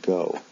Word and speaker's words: go: For example, do and go both end in an O, but one is pronounced do, the other was pronounced with an O sound, go.